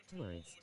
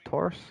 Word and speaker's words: Taurus: tourist. W tourist. Did I say Did I say it wrong? Taurus.